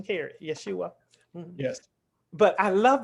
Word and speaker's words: Yeshua: Is that the correct pronunciation, Kerry? Yeshua.